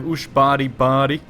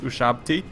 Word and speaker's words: Ushabti: freaking awesome looking troops I have USB body but they're actually pronounced ushabti these guys are freaking